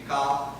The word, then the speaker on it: Michal: For Mike, we'll call her Michael, because the correct pronunciation is just difficult for me. Michal, but we're going to say Michael.